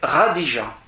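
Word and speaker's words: Khadija: Il se marie avec Radija, K-H-A-D-I-J-A. C'est le Ra, ça s'écrit K-H.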